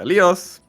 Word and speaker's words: Leos: How many ways can you pronounce the name Leos? No, it's more like Leos. Leos? Leos. Yeah, Leos. it's like that. Leos.